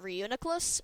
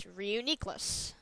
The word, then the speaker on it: Reuniclus: I was pronouncing it Reuniclus, but it's Reuniclus.